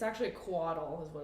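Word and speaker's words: couatl: the the giant thing the the it's actually quaddle is what it's called yes um never heard of that yeah do you want to see where that was how do you pronounce it caudal collateral quaddle it's spelled bizarrely it's felt weird c-o-u-a-t-l yeah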